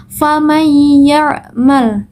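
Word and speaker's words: فَمَن يَعْمَلْ: bertemu dengan huruf ya, maka wajib dibaca idgham bi gunnah. Yaitu cara membacanya yaitu dengan dengung. Faman ya'mal, memasukkan huruf pertama ke dalam huruf berikutnya, bukan faman ya, tapi faman ya'mal, seperti itu.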